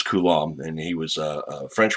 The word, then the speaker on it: Coulomb: i first saw that name i thought it's pronounced kulum and which is a really funny thing fun thing to say it kind of resonates in the nasal cavity but it's coulomb and he was a french researcher you know